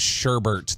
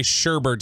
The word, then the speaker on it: sherbet: me nuts, though, is sherbet. They'll say sherbet instead of sherbet, and that drives me nuts. There's no second R in sherbet.